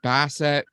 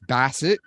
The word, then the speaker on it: Bassett: We've got Chris Bassett. Chris Bassett. I mispronounced it the first time by accident.